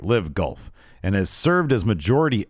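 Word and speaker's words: LIV Golf: Investment Fund, bankrolled uh, is this is this pronounced live golf or lif. All right. Live golf.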